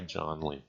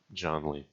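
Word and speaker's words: Jann Lee: Rhyming with can or Jan. No, I say Janly.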